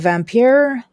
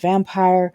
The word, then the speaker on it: Vampyr: into the world of vampire at least that's how i'm pronouncing it it's probably pronounced vampire i just like the european e-sounding vampire we are going to